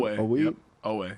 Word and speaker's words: Oweh: They drafted Odafe Oweh. I think that's how you say his name. Oweh, yep.